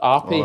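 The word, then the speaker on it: Árpád: And so it's a Hungarian guy called it's spelled Arpad, but it's pronounced Arpe.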